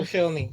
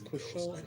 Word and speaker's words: Koscielny: It's Koscielny, isn't it? You sure? They can't call it self. They struggle. Even the French, that's how they call it. They just don't pronounce the L.